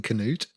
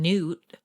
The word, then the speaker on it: Canute: right right right um well done for saying Canute thank you that's how it's pronounced it's not King Newt you've heard people say that before I've heard